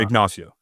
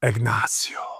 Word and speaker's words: Ignacio: It's funny because that's the actual correct pronunciation of the word in both Spanish and the Native American chief that the town is named after. Okay. However, the locals call it Ignacio.